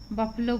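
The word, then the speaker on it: buffalo: बफलो बोलते हैं इसको, बफलो, यू का उच्चारण आ के रूप में।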